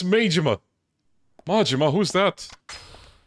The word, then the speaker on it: Majima: maima I wonder do you think anyone actually pronounced his name as maima oh dude you don't get it it's maima majima who's that right this is the part where